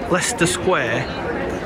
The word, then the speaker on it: Leicester: we pronounce Leicester or as people here say Lester square or Leicester Square in